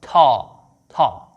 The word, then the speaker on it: ت: The counterpart of this letter in English is the letter T, but a soft one, t, t, right? If you want to pronounce the correct sound of ta, you have to bring your tongue forward, place it at the back of your front upper teeth, and blow some air.